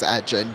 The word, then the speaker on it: Egan: His actual pronunciation is Edgen, but you know, if I say that, then y'all are going to get the wrong idea.